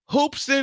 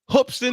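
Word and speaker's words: Hoopeston: my South Carolina Gamecocks what folks hoopson Illinois hoopson Illinois I gotta say it right hopston Illinois well basketball town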